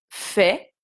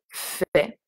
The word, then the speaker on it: fais: Donc, je fais, d'accord? AI se prononce est. Je fais.